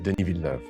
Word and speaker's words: Denis Villeneuve: My name is Denis Villeneuve.